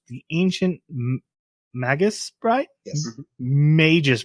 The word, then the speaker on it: Magus: Magus Bride. No, it's Magus.